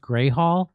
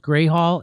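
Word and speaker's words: Grewal Hall: It's spelled Gruwall, but it's pronounced Gray Hall. Oh, okay. Yeah. So it's pronounced Gray Hall, and it's fitting because in Lansing, Michigan, it's gray most of the time.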